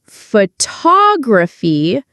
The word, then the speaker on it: photography: The stress is on the first part, photograph. But if we say photography, the stress changes. Photography.